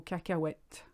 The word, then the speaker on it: cacahuète: It's a funny word, cacahuète. It's quite hard to pronounce. Just ignore the H and you'll be all right.